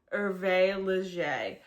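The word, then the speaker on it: Hervé Léger: Um, it is spelled V Leisure, but I looked up the pronunciation and it's pronounced Erve Leger.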